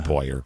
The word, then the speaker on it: Poirier: Poirier. It's pronounced Poyer, from what I understand.